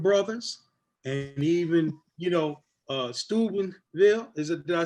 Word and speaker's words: Steubenville: But when we met our Akron brothers, and even, you know, Steubenville, did I say it right? Steubenville, yeah.